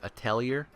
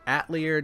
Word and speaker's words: atelier: most people pronounce it atellier so that's the way I'm going to be saying it ater just sounds ridiculous there's an there's an e after the T so I'm going to